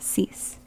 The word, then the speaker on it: sis: 0, un, deux, trois, quatre, cinq, six, like cease and desist, cease.